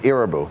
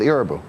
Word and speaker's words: Irabu: He said, "He pronounces it IU." So that's why I went with IU.